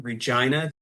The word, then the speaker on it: Regina: Regina, the city that rhymes with fun.